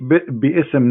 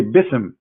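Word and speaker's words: بسم: say, you see here, you don't say bi'ism no more. Here they say bism. So it's not an error scribe. It's an error in the pronunciation. Are you getting my point? Because they are not saying, when they recite the Quran, they don't say bi'ism and it's written wrong. No, they recited bism.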